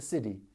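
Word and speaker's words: siddhi: you're not familiar with it's not City as in we built this city we built this city on rock n roll its city from the Sanskrit for divine gift and it's basically the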